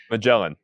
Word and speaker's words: Magellan: in the the 1500s magellan yeah magellan yeah that's how you pronounce it in english yeah so back then